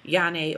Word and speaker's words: Yenah: So in addition to that, I started a different skin regimen where I only use products from this company called Yane Organics, and it's spelled Yenah.